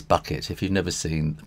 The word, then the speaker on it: Bucket: I know it says bucket. If you've never seen the program, it's a British program. Quite some time ago, a very snooty lady called Hyacinth Bucket, but she said it's pronounced bouquet, you know.